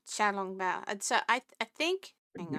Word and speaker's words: xiao long bao: so I I believe I believe I use Mandarin pronunciation when you're saying Shong B Shong b i no mind's sh sound Shia I think Shia okay I I do the more sdh xia yeah sha long B so I I think